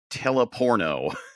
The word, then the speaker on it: Teleporno: It's spelled exactly the way I'm sounding it, Teleporno.